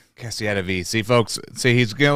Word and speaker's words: CASSIETTAVI: No, it's God, it's CASSIETTAVI. CASSIETTAVI.